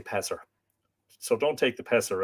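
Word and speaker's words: Pisear: of Annie spear with pisser I it's it's both p-i-s-e-a-r but the pronunciation is apparently pisser so I'm just going to say passer so don't take the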